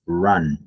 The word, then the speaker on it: run: So the pronunciation for the present and the past participle is run. It's like ah. It's I like run. you have to place your mouth like if you are going to pronounce like an o. Instead of pronouncing an o, you say ah.